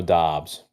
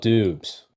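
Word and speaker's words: Doubs: school at nevada romeo dobbs we got the name right it's spelled dubs but it's dobbs okay d-o-u-b-s dobbs this guy well first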